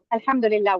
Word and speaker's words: Alhamdulillah: It means yeah, it means Alhamdulillah, and it's Alhamdulillah. We say Alhamdulillah.